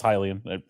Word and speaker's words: Hylian: I pronounce it wrong. It is Hylian.